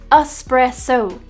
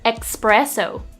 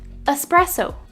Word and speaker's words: espresso: rural espresso is pronounced espresso but due to a popular misspelling lots of people pronounce it with an x sound expresso instead it's actually an s sound espresso pre-elude often times people